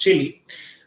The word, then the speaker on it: Chile: country Chile this is not called CH it's pronounced Chile and this is a South American country uh